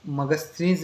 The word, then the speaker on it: Megasthenes: उसको मगस्थनीज भी कहा जाता है। मैं स्पेलिंग लिख देता हूं।